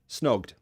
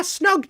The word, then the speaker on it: snogged: in the throat snog so for that reason it will be yeah pronounced like a d snugged snugged snogged snugged did you snog him yeah snogged him i snugged him